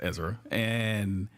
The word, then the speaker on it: Ezra: It ain't Azariah, it's Ezra. That's Ezra?